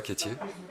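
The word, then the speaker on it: Quetier: association d'accord alors je moi je m'appelle kétierer qui s'écrit Q u e t I e r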